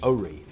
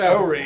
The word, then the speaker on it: Horry: Horry. So you must be from there if you said Horry, because that's how they say it. Well, the H is silent. It's a French word, and accents on the reef.